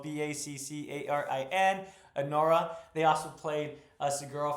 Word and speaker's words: Baccarin: Morana Baccarin, excuse me, I mispronounced that as well. Baccarin.